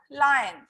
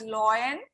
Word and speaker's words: lion: animal so cow or lion and don't pronounce it as loin okay i've heard many